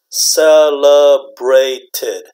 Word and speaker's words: celebrated: right celebrate celebrate okay but when you put the D to make it pass form do you have a three syllables are for celebrated celebrated celebrated celebrated okay so it's extra is extra extra now when do